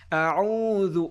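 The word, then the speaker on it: أعوذ: আমরা তেলাওয়াত করি আউজু এখানে যে আইনটা রয়েছে প্রথমে তো হল হামজা। এরপরে যে আইন আমরা আইনটাকে শুদ্ধভাবে উচ্চারণ করতে পারি না। আইনটা গলার ভিতর থেকে উচ্চারণ হবে। আবার এই জালটাও নরম হবে আউজু অনেকে আমরা জু বলি জু বলি এগুলো কিন্তু উচ্চারণ হবে না আউজু নরম হবে আউজুবিল্লাহি মিনাশ শাইতানির রাজম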